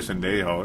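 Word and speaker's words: Sendejo: No, it's Andrew Sandejo.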